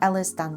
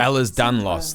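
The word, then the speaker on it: Ehlers-Danlos: EDS EDS stands for Ellis Dan syndrome or rather ell is Danos that's how you say it there are 13 variants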